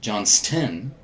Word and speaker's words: Johnston: A ton of people mispronounce that. Johnston.